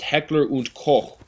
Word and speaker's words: Heckler & Koch: if Heckler & Koch, it should be pronounced Heckler und Koch, like Heckler und Koch. Because I feel like that O-C-H, it's not a Koch, it's, you know that like Doch, Hoch, like, I feel as if Heckler